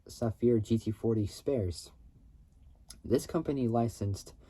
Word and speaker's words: Safir: uh difficulties so um a British company uh Safir engineering so this first name is spelled s a fiir so s a fi